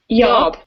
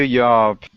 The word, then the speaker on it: YAWP: Yeah, I guess it's kind of like y'all, but with a P at the end instead of an L. Okay. Thank you, YAWP.